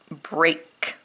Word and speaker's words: break: heart words steak great break here the ea is making a long a sound instead of an e sound that's why these are